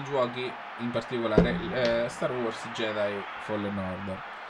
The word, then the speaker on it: Jedi: in particolare Star Wars Jedi Fallen Order. E non Jedi, come dice Sabaku. Porca puttana, Michele, io ti amo. Però, come poi di Jedi, che hai sbagliato sia la vocale che l'accento.